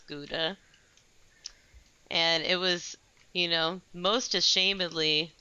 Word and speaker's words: Gouda: learned how to pronounce Gouda. And it was, most ashamedly a Starbucks barista who Oh. helped me out with that one. Did you say Gouda or something? No, much worse. I said Guida.